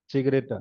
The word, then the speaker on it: Zigarette: नाउ rauchen, so er rauchte jeden Tag 5 Zigaretten, Zigaretta, die Zigaretta, ठीक है। यहाँ तक सिंगुलर, एन लगा दिया तो प्लूरल, ठीक है। दी सिगरेटा, प्रोनाउंसिएशन इज विद स वत्सला वाला, ठीक है, शुरू में बताया था मैंने।